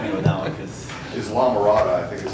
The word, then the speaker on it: Islamorada: Islamorada, I think is how it's Oh, is that pronounced. right? Yeah, okay. You were right. Okay, Islamorada.